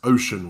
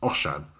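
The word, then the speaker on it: Osian: Incorrectly, though, you described him as Ocean Williams. Ocean Williams is a California surfer. The correct Welsh pronunciation is Oshan.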